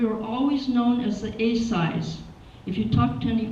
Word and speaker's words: Asai: But today, with the third, fourth, and fifth generation, they are known as the Asais, which is the correct pronunciation of my family name, Asai.